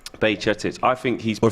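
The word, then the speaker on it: Bajčetić: Bajcetic. Bajcetic. I think he's or playing... Or if you're Scouse, Bajcetic.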